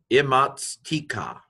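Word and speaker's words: אִמַּצְתִּיךָ: But this is imma, patak, and the M should be pronounced twice if you can do it. I can't do it very well. Imma. I just kind of hold the m a little bit longer.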